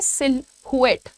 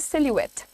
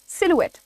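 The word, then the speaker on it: silhouette: miss pronounce करते हैं वो कहते हैं सिल हुएट सिल हुएट the pronunciation is सिलवेट how will you pronounce it से it with me इट इज सिलुएट् ठीक है इसका अर्थ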